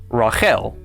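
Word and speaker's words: רחל: This word is pronounced rael.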